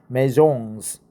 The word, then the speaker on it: maison: housing data from its 75 brands known as maisons. Maisons, right? Let's go and check out the pronunciation.